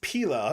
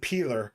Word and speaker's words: Pila: It's spelled Pila. I've always said peeler. Sorry, I thought your name was Potato Peeler.